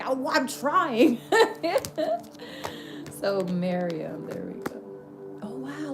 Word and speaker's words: Miriam: Victory of, I believe it's Mariam. I hope I said it right. No, Miriam. Miriam? Miriam? Okay, they're saying it's more Miriam.